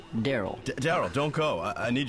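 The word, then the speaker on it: Darryl: you oh he's the top scorer rl it's pronounced daryl daryl don't go i need your help oh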